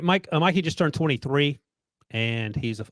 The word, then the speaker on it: Mikey: And I was just thinking in Mikey's case, and by the way, he spells it M-I-K-E, but he pronounces it Mikey, which I sort of like.